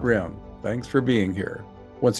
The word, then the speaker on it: Rym: This is, I think it's pronounced Rym, R-Y-M, an unusual first name and the only person with that first name who has registered.